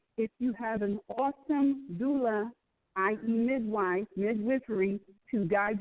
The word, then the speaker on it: doula: Doula.